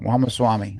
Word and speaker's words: Ramaswamy: Ramaswamy. I Yeah. think I finally pronounced the last name right. Yes, I think you Yeah, have. yeah, Ramaswamy.